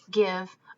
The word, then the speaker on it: give: So words like give are tricky. They look like a magic E, but they're not. So we learn these as red words. This would actually be pronounced give.